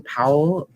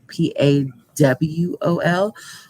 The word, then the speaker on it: Pawol: I don't know if I'm pronouncing her name correctly, but a woman named Jen Powell, Pawol, will make history this weekend as the first